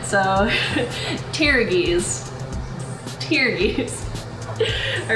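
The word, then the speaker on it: pteruges: it's actually called a petrides which I am definitely pronouncing right how's it pronounced petrides petrides okay so p is silent so tiies tiies all right so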